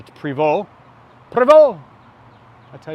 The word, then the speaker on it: Prevost: the bus it's not Prevost given those an ST it's a french-canadian manufacturer to Preval put a bowl I